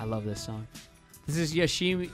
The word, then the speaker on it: Yoshimi: This is Yoshimi. Yoshima. You just said it. Yeah, but you said you wrote down Yoshimi. Yeah, that's how you spell it, but that's not how you say it.